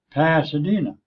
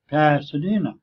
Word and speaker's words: Pasadena: pretending but I'm not the word is Pasadena passadena and the same thing in the word resident resident the emphasis is on one syllable and there's no way